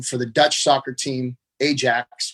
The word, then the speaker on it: Ajax: the dutch soccer team ajax which is pronounced iax if you're in in holland uh so every time